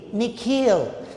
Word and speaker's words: Nikhil: his parents say it the second part of it longer sounding like heel nikhil so the child is